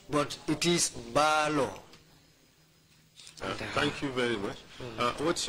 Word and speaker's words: Balo: It is the Fula pronunciation who used to say Mbalo. But it is Balo.